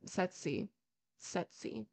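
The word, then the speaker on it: tsetse: e TS e CC fly sets got it sety sety so sey that feeds on human in animal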